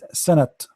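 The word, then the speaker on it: سنة: Instead of writing the letter ta marbuta, I write the ta maftuha. That will make it sanat. Sanat. But because here it is marbuta, it's going to be sana.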